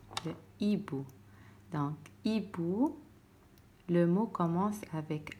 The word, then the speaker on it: hibou: Donc, comme on a le mot hibou, le hibou. Donc, hibou, le mot commence avec H, comme 8. On écrit H mais on ne va pas le prononcer, d'accord?